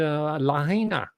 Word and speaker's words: Lahaina: their mascots living out there while they're scouring a liner that's how it's pronounced by the way Lahaina Hawaii is an